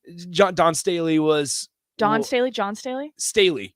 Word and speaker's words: Staley: night so was dawn stanley john don staley was don staley john staley staley yeah staley stan stan not stanley staley yes say her name